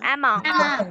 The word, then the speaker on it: among: আমরা এমং বলি, এটা প্রোনাউন্সিয়েশনটা কি হবে? কারেক্ট প্রোনাউন্সিয়েশনটা এখানে কিন্তু among, দেখছো তোমরা কিন্তু একটা